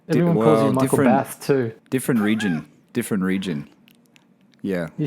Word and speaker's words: Bath: Well, that's the proper English pronunciation of Bath. So. Yeah. But you know, I don't. But anyway. Yeah, I don't say that. I say in the Aussie way, Michael Bath.